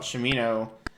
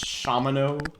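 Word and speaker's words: Shamino: Or also, I'm saying his name wrong every single time I say it. It's Shamano.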